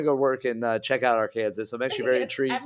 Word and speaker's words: Arkansas: but all right um Arkansas which is actually by the way the pronunciation so not leave you hanging too long Arkansas is how you say it's okay but listen